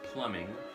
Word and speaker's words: plumbing: of the week is plumbing plumbing it has a B in it but apparently you don't pronounce the B it's plumbing it's um it actually